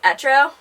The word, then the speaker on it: Etro: designer brand and it's I think it's pronounced Etro but it's ETR Oh anyway and they are out